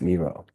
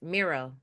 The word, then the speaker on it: Miro: I love to getting names right and it's pronounced Miro. Oh, I keep rolling the Rs. Miro.